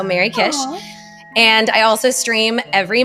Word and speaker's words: MerryKish: Well, I am on most major social channels, Twitter, Instagram, Blue Sky, under my name, but it's spelled MERRYKISH. So Mary Kish.